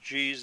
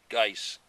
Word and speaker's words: Geis: name of the manufacturers some people pronounce that geez the others dice so either way it's